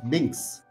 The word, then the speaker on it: Binks: हाय हाय हाय ब्लिंक There is no yell in my name, macha. Now how to pronounce it? It's Binks. Binks.